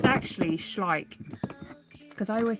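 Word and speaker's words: Schleich: It's actually schlike cuz I always say schlleck and I was like how does it how do you actually pronounce it? It's properly pronounced schlike as in like but with the so these are schlike.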